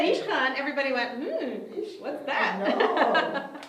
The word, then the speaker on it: Ishkhan: And you have to know a little bit, to spell it correctly, you would have to know a little bit about Russian pronunciation, right?